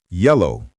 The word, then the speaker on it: yellow: Yellow, stress on the first syllable.